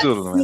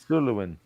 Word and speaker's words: Suluin: Sullivan. That's Suluin. three syllables. Well, That's three nailed syllables. it. Suluin.